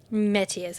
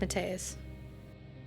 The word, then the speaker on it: Metius: Metius. I said it wrong, my bad. I said Mateus.